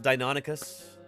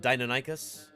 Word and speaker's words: Deinonychus: it shoot I think I think Ostrom pronounced it deinonicus and not dynanicus but um yeah anyway tomato potato you could say it either way it doesn't really matter that much Ragnar Walker Ragnarok wants